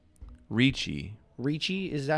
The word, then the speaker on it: Ricci: It's not Nicole Richie. It's Ricci.